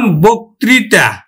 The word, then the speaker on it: বক্তৃতা: পায় 2 নম্বর নিয়ম, আদ্য অ প্লাস যদি রিকার পায় তাহলে আমার কিন্তু ও এর মতো উচ্চারিত হবে। যেমন বক্তৃতা, যকৃৎ, দেখো আদ্য হওয়ার পরে রিকার আছে তাহলে উচ্চারণ হবে কিন্তু বক্তৃতা, বক্তৃতা।